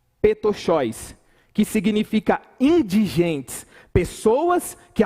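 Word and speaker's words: πτωχός: Lucas ele vai usar um termo grego que que que pronuncia dessa forma petcho que significa indigentes pessoas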